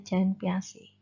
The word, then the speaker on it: Jean Piaget: Ini tokohnya adalah Jean Piaget, gitu ya. Tulisannya begitu tapi bacanya Jean Piaget.